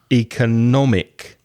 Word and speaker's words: economic: I said before, economic is an adjective. Be careful of the stress. Economic. So the third syllable is strong.